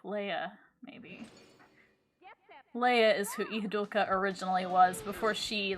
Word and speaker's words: Ihadurca: It's Ihadurca Imela. Also, she's another one. They spell it with an R, but they pronounce it with an L.